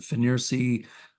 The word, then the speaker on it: FNIRSI: Okay, one more view of that screen capture from the combination O-scope multimeter signal generator, the FNIRSI, I'll pronounce it FNIRSI 2C as in Charlie, 23T as in Tango.